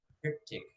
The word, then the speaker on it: triptych: Triptych. Can you say it again, please? Am I pronouncing it correctly?